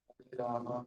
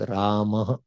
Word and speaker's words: Rama: Hare Krishna, Hare Krishna, Krishna Krishna, Hare Hare, Rama, Hare Rama, Rama Hare. Wonderful. So here we wanted to point out that it is Rama, not Ram.